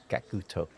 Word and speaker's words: Gackt: demonstrating how the his how to pronounce his name is kakuto-san kakuto yakuto I mean that's